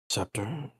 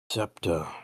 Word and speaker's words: Septa: Scepter, or I don't know if I said that correctly. Oh, no problem. Spell it out for you. Septa, okay.